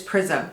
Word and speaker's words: Prisme: like, do you say Prisme or do you say Prism? Well, in English it's Prism, right? But it's French. So I think in French they say Prisme, and then the Libre is Libre.